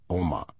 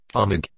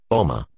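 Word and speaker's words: Omagh: name for a small town in Ireland called Oma. I type the word I want to change into the Pronounce This box. This is how it is pronounced now. Omig.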